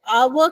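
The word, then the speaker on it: hour: लेकिन आवर में ह का साउंड नहीं है। एच साइलेंट है। आवर का साउंड आ रहा है।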